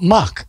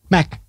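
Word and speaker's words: Mach: Oh, Mac. M-A-C-H. Mac. So did the Brits say Mac? They do. Yeah, okay. Sorry about that. I know. I mean, we say Mac, but I got it.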